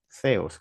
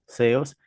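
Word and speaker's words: θεός: Teo, o sea, se pronuncia en español teo, pero en griego se pronunciaos. Zeos, como una set, ¿no? Zeos.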